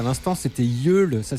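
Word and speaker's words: Yeule: À l'instant, c'était Yul, ça s'écrit Y E U L E.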